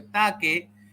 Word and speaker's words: take: Take se escribe take, pero se pronuncia take. Las palabras con E final, recuerda este quinto consejo, las palabras con E final no se pronuncia la E final, se pronuncia la consonante con la que termina. Entonces, en este caso, take termina con el sonido de k, y control también con el sonido de k.